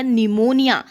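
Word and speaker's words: pneumonia: निमोनिया। ठीक है? तो यहां पे निमोनिया की स्पेलिंग मैक्सिमम जो है वो एन से लिखते हैं।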